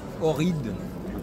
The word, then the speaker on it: Ohrid: Donc là on est en Macédoine du Nord, alors le nom de la ville, c'est Ohrid. Ohrid, ouais. Ça s'écrit O-H-R-I-D normalement.